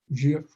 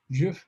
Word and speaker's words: GIF: jpg I'm gonna select Jif or gif however you want to pronounce it both are used jiff is actually the original quick-like correct way like giraffe but gif is the one that's more commonly so if I want